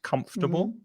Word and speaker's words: comfortable: that word earlier gratiella comfortable three syllables three cylinders first syllables comfortable secretary is another one